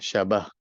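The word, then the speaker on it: شبه: tasbih dan wajhus syabah bacanya wajhus syabah Ya syabah bukan syibah ya syabah ini boleh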